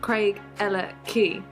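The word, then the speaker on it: Craigellachie: next to the bridge which is actually pronounced craig ella key we let that after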